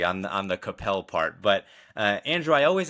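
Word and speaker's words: Coppell: I've made that error before, calling it Koppel, and was told this is not how you pronounce this area. So I always make sure whenever anyone's from Capel that I'm hitting and dismounting correctly on the Capel part.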